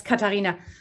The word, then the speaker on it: Katharina: Yes, we've got Katharina also has, and Katharina, I hope I'm pronouncing your name right. Yes, Katarina. Katharina, okay.